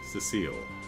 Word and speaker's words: Cecile: that so hi Cecile okay foreign like Cecilia but without the ear on it Cecile maybe I can handle